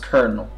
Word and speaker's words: colonel: i heard it it says colonel and it's pronounced colonel which is what what's wrong with two people